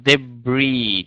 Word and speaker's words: debris: okay so uh the word number two uh debris debris last s is uh silent debris debris